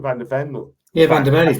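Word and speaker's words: van de Ven: Am I pronouncing his name? Van der Ven?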